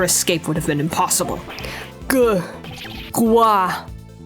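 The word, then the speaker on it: 瓜: Gua. That's a good pronunciation of the Chinese word for melon.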